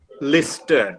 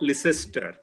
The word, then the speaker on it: Leicester: But then he would go and find that it is being pronounced as Gloucester, Lister, not Leicester.